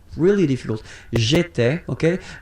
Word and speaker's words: j'étais: J'étais, okay? Remember, here we've got accent aigu, so it goes like et, alright?